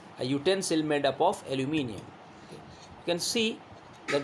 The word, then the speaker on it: aluminium: Okay, in American accent they say aluminum. Okay, but we don't speak the American accent, we speak the neutral we use the British pronunciation, that's why it's aluminium.